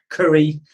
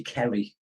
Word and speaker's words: Kerry: Curry Kerry, it's just my accent because I'm from the northeast of England.